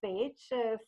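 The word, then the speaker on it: Pécs: realize so I am from page the pronunciation is page thousand Hungary Community Foundation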